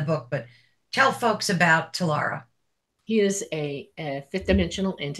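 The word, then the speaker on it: Tlera: Yeah, I say Talara, but I have a weird accent, so it comes out that way, but it's T-L-E-R-A.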